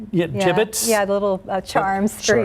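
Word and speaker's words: Jibbitz: Yeah, gibbets.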